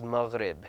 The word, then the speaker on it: Maghrib: When you see a GH in Arabic transliteration, it's a pronunciation that we don't have in the English language. It could be kind of difficult. It's kind of like a gha. So it's Maghrib, and that's how it's pronounced.